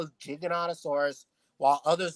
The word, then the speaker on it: Giganotosaurus: like me call it Giganotosaurus. I rather prefer the name Giganotosaurus, Yeah, it doesn't just for the matter. fun of it. It's not called Gigantosaurus, though. That's not even how it's spelled.